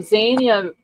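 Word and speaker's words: Zyanya: So the Y is silent because it comes after Yeah. So yeah, Za. Okay, let me listen to this real quick. See if hold on. Okay, so Zia, that does make sense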